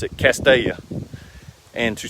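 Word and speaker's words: Castalia: cast a-your north carolina if you're not from around here you might would pronounce it castelia but and it spells CAS T a li a but we pronounce it Castilla and to spell it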